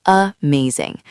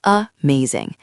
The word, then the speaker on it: amazing: Take the word amazing. Most students say amazing, but a native speaker says amazing. That first a is awah.